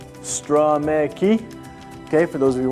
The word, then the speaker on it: Stromecki: That's pronounced Stromecki, okay, for those of you wondering.